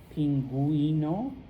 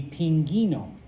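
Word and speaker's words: pingüino: If the U has two little dots above it, then you do pronounce it. Okay. And so I hope I don't have to translate that animal. Pinguino.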